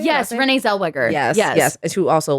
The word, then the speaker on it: Zellweger: Zellweger? Is that how you say it? Yes, Renee Zellweger.